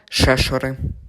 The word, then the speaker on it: Шешори: мають іншу думку підсумовуючи наголос пропадає на літеру е Отже кажемо Шешори що ж стосовно другое